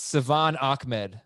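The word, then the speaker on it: Salvon Ahmed: score touchdowns okay yeah we butchered it it's savan ahmed yeah that's the way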